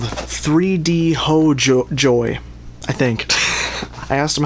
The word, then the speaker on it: 3DHOJOR: and they are called 3D ho joy. I think I asked them how to pronounce it and they said the R is pronounced like a Y and they said ho is like home and so I assume